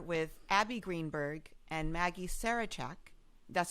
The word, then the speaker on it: Sarachek: we are here with Abbe Greenberg and Maggie Sarachek. That's how you pronounce it?